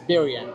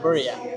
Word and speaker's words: birria: It's birria, not burria. It's birria.